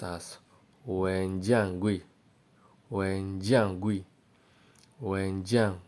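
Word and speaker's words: 文件柜: put all your books now fire cabinet is pronounced as Wen Jiang GUI when Jiang GUI when John GUI number 10.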